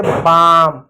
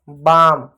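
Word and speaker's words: balm: इसको क्या पढ़ेंगे, बाम, एल साइलेंट रहेगा क्योंकि एल के बाद एम है।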